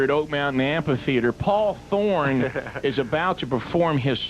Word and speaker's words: Thorn: before heard song, Paul Thorn. There you go. And the E is silent. So we've had on the website an E on your last name for That's some all reason, right.